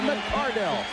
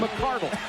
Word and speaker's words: McCardell: Keenan McCardell, formerly known as Keenan McCardle.